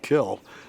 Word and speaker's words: kiln: the work the difference between a kill and a kiln is basically where you grew up it's kiln in my book but i i know people who want to call it kill the word is spelled k-i-l-n with an n i grew up in south florida and it was always just kill kiln we spend probably